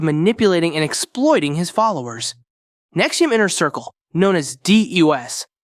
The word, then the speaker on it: NXIVM: on the list nexi nxivm pronounced Nexium was a controversial organization